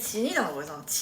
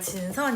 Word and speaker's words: Jisun: You know my name is Jisun, He used to pronounce my name Jinsun, then now everyone calls me Jin.